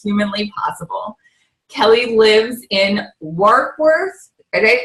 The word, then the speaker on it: Warkworth: Kelly lives in Warkworth. Did I pronounce that right? Warkworth?